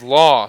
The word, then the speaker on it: Law: They pronounce it as Law, so I will make sure I get his name going forward. An excellent play there on defense by Law with it.